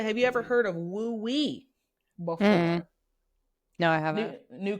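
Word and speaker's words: 無為: And so, or Wu Wei, sorry, Wu Wei is how you pronounce it correctly.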